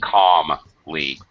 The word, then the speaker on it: calmly: The L in calmly is silent.